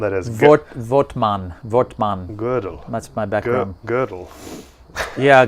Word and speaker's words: Gödel: Okay, so Gödel, he says religions. Your pronunciation of which, are by bad.